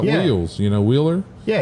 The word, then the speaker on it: Wheeler: from texas i'm like wheeler you gotta say like wheels you know like wheels you know wheeler yeah you don't pronounce the h at all it's just i don't